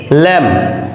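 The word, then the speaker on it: lamb: বি কম কম অর্থ চিরুনি এখানে বি এর উচ্চারণ হয়নি ল্যাম এল এম বি ল্যাম ল্যাম means ভেড়া এখানে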